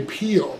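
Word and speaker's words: Pihl: His secondhand guitar that played through most of his solo albums, his name's Peel, P-H-I, maybe A-L. It's phonetically, it doesn't spell like it's pronounced, and that's Wikipedia, thank you.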